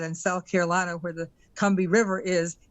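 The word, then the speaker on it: Combahee: to the KEH River Collective statement is actually kbi because I found that out a few years ago that in South Carolina where the kbi river is it's actually pronounced that way and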